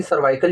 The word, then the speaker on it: cervical: सर्वाइकल cancer या फिर सर्विकल cancer होने के चांसेस ज्यादा है? हां देखिए पहले तो मैं ये बताना चाहूंगा कि सर्वाइकल या सर्कल दोनों सेम वर्ड है। थोड़ा सा प्रोनाउंसिएशन में भी डिफरेंस इसीलिए मैं दोनों ही बोल रही हूं।